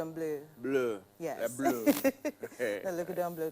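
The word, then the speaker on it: Bleu: like blue no blue b l EU U but it's pronounced blue blue yeah the lon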